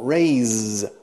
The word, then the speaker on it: raise: What's the first letter in the English alphabet? A. A, B, C, D, E, F, G. A. A. Raise. Fijaos también en la S al final. Se escribe raíce con S simple.